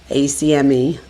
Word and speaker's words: Acme: ACME. In Philly, we call it an Acme. And there's no a. It's only two syllables. We add a third.